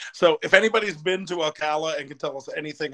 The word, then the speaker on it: Ocala: do you say that town because I remember Ocala yeah yeah that's how you say it because